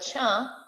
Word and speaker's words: tcha: Kapri, you'll notice that we said the word cha all the time. Cha, cha, which they actually ended up writing. It's spelled TCHA.